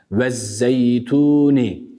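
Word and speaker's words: وَالزَّيْتُونِ: vezzeytuni değil mi unutmayalım Elif Lam takısında başta her ne kadar biz ona Elif Lam desek de baştaki hemzede vası dır kendisinden önce harekeli bir harf geldiğinde telaffuz anında düşer ama yazılışta yine vardır yazılır sadece telaffuzla biz onu artık söylemiyoruz Neden Çünkü idgam dahan dolayı buradaki Elif Lam takısı kendisinden sonraki Şemsi harflerden olan Z'ye idgam edildiği için bu şekilde okuyoruz vezzeytuni bir diğer meselede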